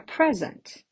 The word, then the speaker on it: present: But if it falls on the second syllable, I can have a verb. For example, it was my friend's birthday party and I got her a present.